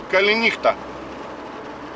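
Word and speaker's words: καληνύχτα: Калинихта. Калинихта. Ну, калинихта тут рассказывать нечего. Ударение вы слышите.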